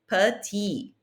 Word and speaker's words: petit: Short is petit. Petit. If I added an E to that, I would pronounce that last T. Petite.